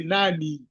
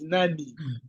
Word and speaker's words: Nani: the I but in K the I will pronounce as e that's why you say Nani you don't say n it's Nani I will always come out yes okay so